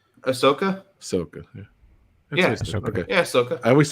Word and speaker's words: Ahsoka: that's your cue am I saying it right Ahsoka Soca yeah I always say her name wrong I don't know why but but she's